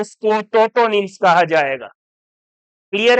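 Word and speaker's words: tautonyms: किसी जीव का वंश और जाति दोनों का नाम समान हो तो उसको टोटोनिम्स कहा जाएगा। क्लियर है बात? यहां पर टी साइलेंट नहीं है, ध्यान रखना इस बात का।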